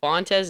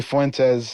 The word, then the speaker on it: Fuentes: So to all you ladies, Fontes, is that how you say it, right? It's actually Fuentes. Fuentes.